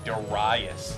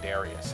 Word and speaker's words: Darius: from the box that it's pronounced deras not Darius I don't I don't